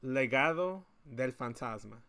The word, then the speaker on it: Legado del Fantasma: Legado del Fantasma. Legado. Kind of like my last name Delgado, but Legado del Fantasma.